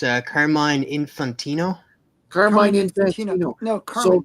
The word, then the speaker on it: Carmine: Carmen. Carmen Infantino. Sorry, it's spelled Carmine and I've pronounced it that way forever.